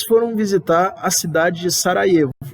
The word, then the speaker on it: Sarajevo: visitar a cidade de Sarajevo. se escreve Sarajevo, mas se lê Sarajevo, tá?